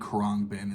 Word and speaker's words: Khruangbin: That band is Khruangbin, or Khruangbin. I think Khruangbin is the pronunciation here.